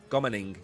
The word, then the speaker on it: GoMining: We're also going to talk about Spark, and then we're going to talk about Go Mining, or Gomining, depending on how you want to pronounce it. It's Go Mining, but anyway, that's what we're going to talk about today.